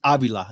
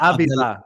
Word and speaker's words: Avila: It's Avila. It's not Avila. It's not I've heard it butchered so many times. I've heard Avila. No, it's Avila.